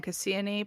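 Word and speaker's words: Kassiani: And I've seen a lot of spellings in my research um that include the N and the I at the end which I don't know why we don't always when we are pronouncing her name Cassian.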